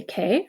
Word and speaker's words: che: you can either say k or kza who is key okay remember it's a hard I I'm sorry it's a hard C Sound because you have the H in there so if the H